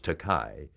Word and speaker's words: Takei: name but i said i don't object to being called george takai because that is a japanese word which translates into english as expensive and if you want